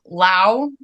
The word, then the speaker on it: Lowe: hi floppy cats today I have Lao is that right you got it okay I